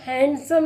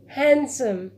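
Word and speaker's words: handsome: ऐसे ही और एग्जांपल्स हैं, हैंडसम, यहाँ पे हम हैंडसम नहीं बोलेंगे, हैंडसम।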